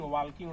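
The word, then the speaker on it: walking: वॉकिंग नहीं, L silent होता है।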